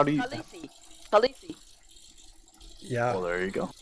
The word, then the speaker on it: Khaleesi: How do you pronounce that? landlord. Kalasi? Oh, Khaleesi? I don't know. How do you? Khaleesi.